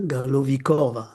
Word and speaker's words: Galovichova: Sorry She if it's pronounced. is Anna Galovikova.